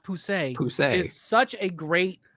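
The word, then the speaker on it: Pussey!: But I would recommend starting with, like, to be honest, Pussy, or pronounced Poussey, is such a great,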